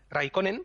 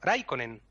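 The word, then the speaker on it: Räikkönen: en la final y el finés es justo lo contrario todas las palabras se acentúan en la primera porque se no se dice raikkonen por ejemplo sino raikkonen no escale balas sino kalevala todo fatal los comprende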